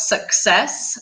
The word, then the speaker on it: success: Sucks with X, success. Take a minute and just repeat it. The stress is on S, success.